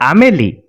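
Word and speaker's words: Amélie: is a vowel so we are not going to pronounce the nasal sound ah but we are going to pronounce the m as it is sodash the combination o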